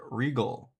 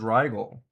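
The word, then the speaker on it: Rigol: The electronics equipment manufacturer is pronounced like the word regal, rhyming with eagle. So, I've been saying it right, I guess. But everyone else says rigel.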